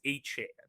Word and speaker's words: Etienne: Orleans and said, "Look, you guys are pronouncing my name wrong. I've tried not to correct anybody cuz you then you have to correct everybody. It is Etienne."